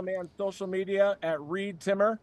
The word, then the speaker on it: Reed Timmer: You can follow me on social media at ReedTimmer rhymes with weed trimmer.